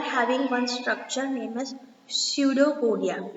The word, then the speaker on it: pseudopodia: So their body is completely having uneven shape, okay, and they are having one structure named as pseudopodia. P is silent.